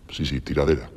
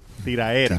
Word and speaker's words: tiraera: Sí, tiradera. Tiraera. Tiraera. No se dice tiradera.